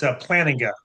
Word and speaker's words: Plantinga: Am I pronouncing that correctly? It's Plantinga, but Plantinga.